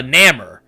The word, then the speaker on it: Namor: know what i mean it doesn't look like it should be a long a sound in his name like it it just